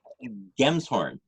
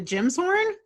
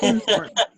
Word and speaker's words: Gemshorn: Gemshorn. Okay. I've seen you write it before, but it's one of those things where I'm like, is it a Jim's horn? It's a Gem's horn.